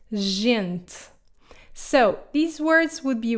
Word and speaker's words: gente: If it comes before an E or an I, then it will be soft, like in the word gente. So these words would be read as grande, gente, and gato.